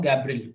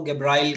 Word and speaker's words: गैब्रियल: तो देखो मैं इसको बोल रहा हूँ गैब्रियल, कई लोग इसको गैब्राइल कह देते हैं, तो वो प्रोनाउंसिएशन कैन वेरी।